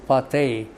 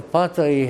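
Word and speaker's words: Patai: Now people will pronounce him pate but he's no not a Hindu but get this a Hungarian Raphael Rafael Pi had discovered by then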